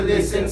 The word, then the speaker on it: listen: The same applies to listen soften.